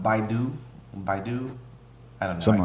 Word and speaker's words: Baidu: I think it's pronounced Baidu.